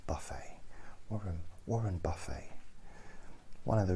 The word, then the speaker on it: Buffett: I know it's pronounced Buffett, but I like Buffett.